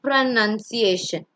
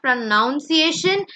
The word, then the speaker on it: pronunciation: What is pronunciation? You see, it is not pronunciation, it is pronunciation.